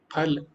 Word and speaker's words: फल: आप बोलो फल, फल, फल, है ना, तो ये सब गलत है। जो फा है वो, जो उच्चारण शुद्ध है वो जब दोनों होंठ मिलेंगे, फा, फल।